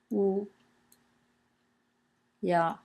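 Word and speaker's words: 乌鸦: But on the right is now by now familiar symbol, which is our bird again, wu ya, and it's pronounced wu ya, both in the first tone, wu ya.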